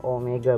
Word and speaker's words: Omega: dengar Hai kalau Omega ingat ini bacanya Omega bukan W banyak nih yang salah Omega itu adalah kecepatan